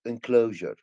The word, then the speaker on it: enclosure: first one enclosure s enclosure enclosure is you are we pronounce it sure enclosure like me measure measure in close but I